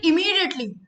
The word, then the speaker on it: immediately: Come here immediately. Immediately. Immediately. Immediately. I've also bold this M-double-E. So the emphasis should be on M-double-E. Immediately. Not immediately. Not the sound of E.